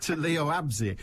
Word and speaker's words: Leo Abse: Let's come to Leo Absey, as you correctly pronounce it.